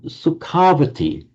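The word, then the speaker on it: Sukhāvatī: So sukavati and because of this tendency in vadic to lengthen an a before an ending beginning in a it became sukavati.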